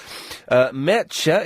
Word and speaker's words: Mertxe: Mertxe is how you pronounce that name, M-E-R-T-X-E.